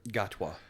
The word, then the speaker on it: Gatwa: Gotwa.